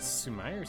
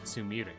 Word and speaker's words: Sumire: to run in the Sumire Stakes. Sumire? Sumire. It's probably Sumire rather than Sumire, because Sumire would be a very English way of pronouncing that. And it's most likely Sumire.